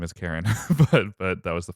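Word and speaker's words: Charon: to anyway so uh when I when I was saying uh cheron and cheron uh cheron the the fairy men and Chiron the uh Centaur that everyone loves it's uh Kiran and Karen and which also sort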